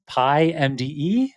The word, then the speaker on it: PyMDE: You're gonna have to tell me how people pronounce this, but it's PyMDE? Perfect. Oh, yeah, okay, alright. So it's PY and then the letters M, D, and E.